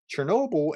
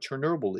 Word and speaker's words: Chornobyl: He uses the phrase "cornable," uh, Chornobyl, whatever. It's pronounced a little bit differently in Ukrainian, but Chernobyl in 86 was a